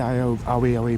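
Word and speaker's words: Aioi: Clock tower, walk over the Aoi Bridge, A-I-O-I it's spelt, because I think that was actually the target.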